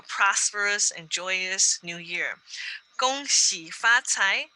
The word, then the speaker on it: Gong Xi Fa Cai: Gong Xi Fa Cai is how we say it in Mandarin.